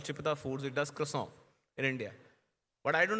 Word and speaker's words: croissant: and by the way, the actual French pronunciation of the croissant that I used to call is called croissant. It's K-W-A-N, croissant.